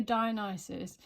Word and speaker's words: Dionysus: But have a look if you're interested in the difference between a Dionysus. So it's spelled Dionysys. It's Dionysus.